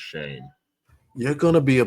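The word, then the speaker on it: Joe Schoen: Joe Shane. That's how it's pronounced, Shane.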